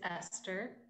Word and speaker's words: Esther: philadelphian my name is esther my name is not um esther my schwester which sometimes people like to rhyme with the yiddish people who look like